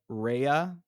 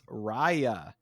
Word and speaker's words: Raya: I've been calling it Raya and the Last Dragon, but it's Raya and the Last Dragon. Yeah, which interesting pronunciation, but I think it does make more